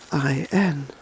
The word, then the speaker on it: Samhain: Samhain, that's Samhain, and it's pronounced Samhain.